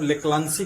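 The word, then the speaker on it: Leclanché: का दूसरा नाम है लेक्लांचे सेल। इसको लेक्लांचे नामक वैज्ञानिक बनाए थे, इसलिए इसका नाम पड़ गया लेक्लांचे सेल, लेकिन हिंदी में इसका जो प्रोनाउंसिएशन है वो लेक्लांसी कहा जाता है।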